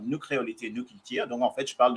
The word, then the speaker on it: Nu Kreolite Nu Kiltir: Mais on s'amuse bien et après donc moi c'est nous créolité, nous culture, si je le prononce à la créole, nous créolité, nous culture.